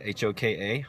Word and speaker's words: Hoka: For me, I like Hoka, H-O-K-A, Hoka Ona, which is, it's Hoka, it's spelled 1-1. They have a lot of